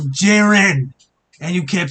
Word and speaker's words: Jiren: is how it's pronounced you've called jiren gyen multiple times to despite the anime and the manga despite both the sub and the dub of the anime saying jiren and you kept saying